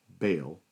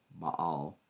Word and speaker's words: Baal: In this case, Yam who was defeated by Baal or Baal is a probably more accurate transl way to pronounce it, but more popularly referred to as Baal.